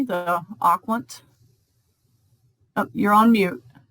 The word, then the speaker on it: Aquant: And am I pronouncing that correctly, the Aquant? Oh, you're on mute. Aquant, but that's fine.